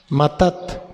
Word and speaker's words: matat: liberalidad regalo o presente matat así como suena acento en la segunda a matat que quiere decir Don